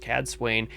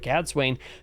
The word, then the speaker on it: Cadsuane: I believe that's how her name is pronounced, Cadsuane.